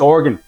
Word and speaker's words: Oregon: I say it wrong. I was saying Oregon. Apparently that is not correct that it's just Oregon.